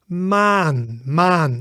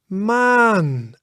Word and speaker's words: maan: So for example, the a in the word maan, and that means moon, moon. So it is pronounced as the a, but longer and lighter, right? So maan, it's quite light, right?